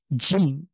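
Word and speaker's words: ج: সাথে strongly lock হয়ে জিম খুব শক্ত করে আমরা যদি কেউ জিজ্ঞেস করে যে তুমি কি খেয়েছো আমরা বলি হ্যাঁ জি তো জি এই জিটাকে যদি শক্ত করে বলি তাহলে এই উচ্চারণ হবে জিম আ কন্ঠের মাঝখান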